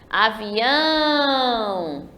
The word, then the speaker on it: avião: Falem comigo assim, avião. Eu estou chamando. Então, percebam que eu demorei mais no ão.